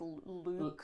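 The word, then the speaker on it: lewk: The next word on the list is I think it's look, but it's where it's spelled L E W K. So like Luke Luke.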